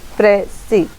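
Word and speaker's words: précis: Definition: the word pressy is derived from the French pressy and is pronounced in English pressy.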